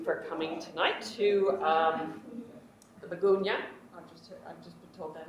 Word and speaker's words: Miegunyah: Thank you for coming tonight to the Miegunyah. I've just been told that is correct pronunciation.